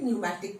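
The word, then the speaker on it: pneumatic: PNEU, P silent, न्यूमैटिक bones, okay.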